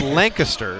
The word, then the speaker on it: Lancaster: there's a Lancaster and it's Lancaster is how it's pronounced for those you know locally yes we're just kind